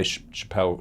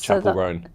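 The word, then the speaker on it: Chappell Roan: You Yeah, but it's the way you pronounced I did say Chappelle. Chappelle Rowan or something. Yes, it's Chapel Rowan.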